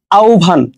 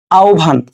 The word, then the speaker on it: আহ্বান: আরো কয়েকটা ওয়ার্ড আছে যেমন আউভান আমরা কিন্তু আহ্বান বলি অনেকে এটাকে এটা কি হবে আসলে আহ্বভান ঠিক আছে তোমরা একটু নোট করে নাও যারা ক্লাসটা করছো ঠিক আছে আহভান ওকে দেখো জিউভায় উচ্চারিত